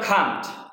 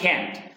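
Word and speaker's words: can't: বন্ধুরা এটা ব্রিটিশ উচ্চারণ হবে খান্ট, আর আমেরিকান উচ্চারণ হবে ক্যান্ট। তাহলে উই ক্যান্ট আমরা পারি না স্পিক বলতে।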